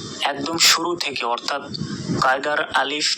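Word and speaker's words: ألف: উচ্চারণ করে বাংলা প শেষে আলিফ আলিফ বলে আসলে এটা আলিফ আলিফ আর আলিফে কোন টান নেই এটা দ্রুত বলতে হবে আলিফ এখানে দেখুন ক্রস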